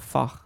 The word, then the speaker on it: Fach: Webster, I like the German pronunciation of Fach, like Bach, but that's an opinion rather than experts say so.